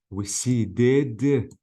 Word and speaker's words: receded: So I have to say receded because the verb ends with D sound.